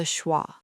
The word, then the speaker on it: schwa: It sounds like a tiny, weak grunt. Listen. Uh, uh. It is not like in father. It is not like in bed. It is just uh. It is the sound you make when someone punches you gently in the stomach.